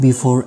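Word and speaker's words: buffet: है तब टी का जो साउंड होगा वो साइलेंट होगा, जैसे कि बाले, बालेट नहीं बाले. इसके बाद बफेट नहीं बफे, बफे.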